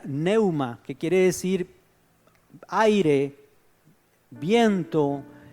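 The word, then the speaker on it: πνεῦμα: La palabra aquí en griego es una palabra que se pronuncia pneuma, que quiere decir aire, viento, soplo.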